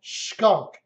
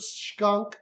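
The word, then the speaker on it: Schunk: Kathleen Demlow, her maiden name is, I can't pronounce it, but I think it's called Skunk. S-C-H-U-N-K.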